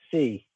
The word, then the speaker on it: Hsieh: i have the famous heist brothers how do you say your last name c c like abc like the letter c like agency yeah really yup non-phonetic